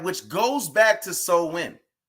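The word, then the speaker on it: Samhain: which goes back to so when right which is actually spelled s-a-m-h-a-i-n but it's pronounced so when right it's a pagan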